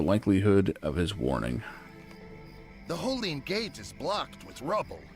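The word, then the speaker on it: Hollin: Did we pronounce it Holeen, not Holland? Okay.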